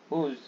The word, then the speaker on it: whose: अब देखिए यहाँ पर WHOSE, अब इसका उच्चारण क्या होता है, हुज, इसका उच्चारण होता है हुज।